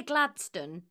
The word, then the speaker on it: Gladstone: Gladstone is just the anglicised sort of modern pronunciation of it.